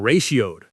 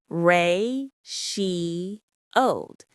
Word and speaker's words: ratioed: Or simply, "You're getting ratioed." Let's check the pronunciation. Ratioed. Reioed. It has three syllables. Ray sheowed. Let's say it slowly.